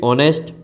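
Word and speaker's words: honest: ओ एन ई एसटी ऑनेस्ट एच ओ यू आर आवर एच ओ एन ओ यू are owner यह कुछ शब्द है तीन शब्द जिसमें य एच साइलेंट रहता है इनके नाम के आगे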